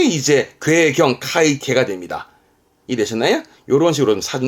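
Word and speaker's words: 塊茎: 발음은 콩케. 그러니까 뿌리 줄기. 요게 괴자라, 덩어리 괴자인데, 괴경이라는 것은 덩어리 줄기, 덩이 줄기인데요. 카이케, 덩이 줄기.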